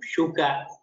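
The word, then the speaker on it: शुक: This is not su, it is shu, shuka. Shuka, okay.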